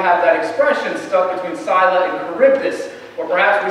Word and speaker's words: Scylla: And on one side is Scylla, or Scylla, in different pronunciations. I'm going to say Scylla.